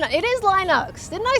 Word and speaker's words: Linux: result when Google says Linux Linux that's not Linux there's no I on the second half of the word LX uh couldn't resist it it's short eye and rhymes with sin bin then L Linux isn't